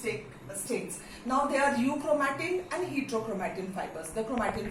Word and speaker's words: euchromatin: Okay, and this is known as euchromatin. EU is silent, euchromatin.